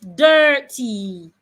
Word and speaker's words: dirty: In fact, I prefer to take the word dirty, not dirty. It's not dirty. It's dir. Make it a long sound. Dirty. Remember the way I-N-R, U-N-R is pronounced in purse. Purse. Make it long.